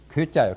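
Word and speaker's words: 乖: 이자는 발음이 괴자요, 괴. 동념을 하면은 곧 틀린단 말이에요.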